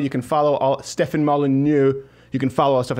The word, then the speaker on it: Molyneux: That's, as far as an American goes, that is a fairly good thwack at the French syllables.